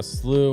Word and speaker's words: slough: You're right on one in one pronunciation just not uh slew when talking about the watershed but slough when you're talking about like shedding skin or something.